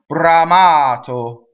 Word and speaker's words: bramato: on the next one Brahma Otto so the O at the end is closed and the our roles because it touches the be Brahma Otto so now